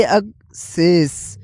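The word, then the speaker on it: access: अब इसकी प्रोनाउंसिएशन में फर्क देखें तो उर्दू साउंड के लिहाज से अेस पहला वर्ड है अक सेष जिसके स्टार्टिंग में ए है उसको ज़बर लगेगी अक सेष और और दूसरा वर्ड जो ई से स्टार्ट हो रहा है वो एक शेष एक शेष स्टार्टिंग वोवेल और स्ट्रेस स्लाइटली डिफरेंट फर्क वोवेल और स्ट्रेस में है।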